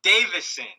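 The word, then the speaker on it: Deiveson: It's Davison.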